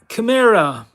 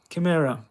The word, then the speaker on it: chimera: Chimera. Chimera. A lot of people call it chimera. It's not. CH is pronounced K. In this case, chimera.